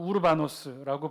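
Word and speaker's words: Οὐρβανός: 노예의 이름 가운데 하나예요 헬라 원어의 발음으로는 우르바노스라고 불리는데 주로 황실 귀족이나 왕족의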